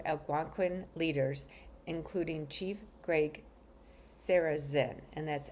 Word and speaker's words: Sarrazin: and spoke to Algonquin leaders, including Chief Greg Sarrazin, and that's S A R A Z I N.